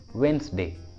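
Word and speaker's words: Wednesday: Silent D का second rule होता है, कुछ कॉमन वर्ड्स के साथ डी को प्रोनाउंस नहीं करते, डी साइलेंट होता है। For example handkerchief, handkerchief, handkerchief, handsome, handsome, handsome, sandwich, sandwich, sandwich, वेंसडे, वेंसडे। देखिए इन सभी वर्ड्स में डी साइलेंट है, डी का उच्चारण नहीं किया गया है।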